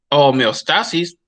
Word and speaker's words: homeostasis: que es la homeostasis así se pronunciaba con mi estasis homeostasis literalmente así ya explica y explica